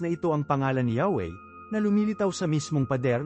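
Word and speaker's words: Yahweh: Ang tradisyonal na pagbigkas, Yahwe ay isang muling pagtatayo batay sa mga kaugnay na salita at form na matatagpuan sa mga sinaunang teksto ng Hebreo.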